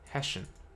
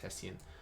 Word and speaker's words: Hessian: it is called the hessian matrix or hessian hessian i think i think it's called pronounced hestian but it's called the hessian